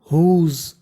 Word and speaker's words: whose: WHOSE, इसे पढ़ते हैं हम लोग हुज।